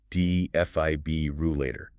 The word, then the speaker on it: defibrillator: The key is the stress and that second syllable dfib rulator. The fib must be clear and strong. The tendency is to drop the R in the fourth syllable, turning it into leu, which is common in many UK dialects, but the full articulation of all five syllables is the standard we're aiming for.